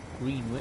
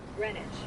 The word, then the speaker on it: Greenwich: So this is our first stop, North Greenwich, or Greenwich. I think it's pronounced the same way as Greenwich in London.